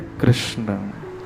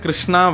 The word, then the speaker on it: कृष्ण: इनिम कृष्ण ताम गत लोग कृष्ण शब्द का उच्चारण सही नहीं करते कई लोग कहते हैं किशन भगवान कई लोग कहते हैं कृष्णा भगवान कई लोग कुछ कहते हैं कई लोग कुछ कहते हैं लेकिन जिनके मन बुद्धि सब एकाग्र है वही कृष्ण शब्द का उच्चारण शुद्ध कर पाते भगवान का नाम